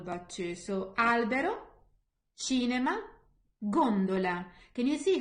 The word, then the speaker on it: gondola: So albero, cinema, gondola. Can you see how the stress, I'm putting the stress more on the first one rather than the second? I don't say gondola, I say gondola.